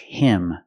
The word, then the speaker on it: him: When I say catch him is not a stressed word, so the H is silent. So you hear catch him, catch him.